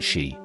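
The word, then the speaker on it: sídhe: The ancient texts call it that side, pronounced she.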